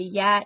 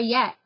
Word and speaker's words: Yat: And it's called that because they say yat instead of saying like, where are you at? Or where are you? You say where yat. Just like one word, where yat.